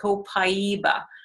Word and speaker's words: copaiba: it's spelt co Pai be a and is pronounced copaiba and they cooperative it comes from microphone consent